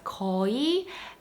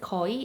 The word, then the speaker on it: 거의: are ko and but you don't need to pronounce the ui so specifically you can just pronounce it as koi and it's okay now